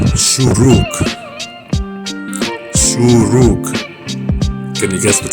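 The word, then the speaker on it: שׁוּרוּק: Now, for our last one, we're looking at the letter shuruk. Shuruk. Can you guess what sound this makes? It makes the ooh sound.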